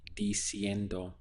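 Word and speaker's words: diciendo: they see her but that ing tense actually goes to DC and or again you can see that the e here is changing to an eye with the Enda sound so telling would be DC end or there are many other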